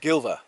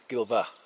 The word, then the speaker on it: Gilfach: Valley here in in here at gilva it's pronounced gilva it's spelled g i l f a c h uh some people would pronounce it gilva but no it's gilva uh beautiful word absolutely amazing so yeah they